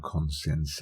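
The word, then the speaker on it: Conceição: game severe wood sack their Portuguese manager Sergio conscience ow that's how you say his name and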